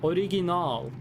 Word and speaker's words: original: That's a long A at the end. Original. But you write it with 1 A.